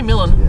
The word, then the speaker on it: Milan: y'all rollin melon melon it's really melon melon so we drove to